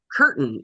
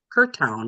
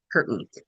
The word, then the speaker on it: Curtin: It's called Eleanor Curtin is how she pronounced it. I pronounced Okay. it on the podcast. I said Curtown because that's what it looked like. But she Yeah. said Curtin.